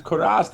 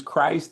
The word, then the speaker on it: Christ: If it's Karast, it's Karast. For some folks, it's Christ.